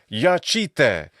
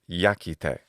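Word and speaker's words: iacite: But in classical Latin, as well as pre-classical Latin, which is what this is by like 112 years, the pronunciation is yakite.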